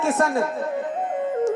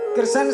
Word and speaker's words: कृष्ण: आधे लोग कहते हैं किशन, कृष्ण शब्द का सही उच्चारण नहीं कर पाते, किशन कहेंगे किशन।